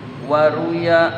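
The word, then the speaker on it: رُوِيَ: Ini ada an berarti dibaca waruya. Kalau tidak ada an, warwa gitu. Waruya dan diriwayatkan. Karena ada an jadi dibacanya majhul. Kalau tidak ada an dibacanya warwa.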